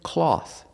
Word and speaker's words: cloth: Pronunciation, cloth. Cloth, using the aw sound like ball and call. Aw, aw. Cloth. And the th with no voice, just air.